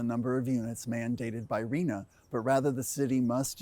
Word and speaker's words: RHNA: Housing Needs Allocation, or known by its acronym RHNA, pronounced RHNA.